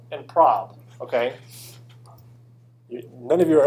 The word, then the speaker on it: prob: So there's two objects in Max that if you pronounce them incorrectly are kind of awkward. Okay. But this is anal, as in short for analysis. And this is prob, as in short for probability. Okay, you all are dirty minds, all of that. Okay, you're thinking of what this. Okay, so if you pronounce these incorrectly, it can be kind of socially awkward.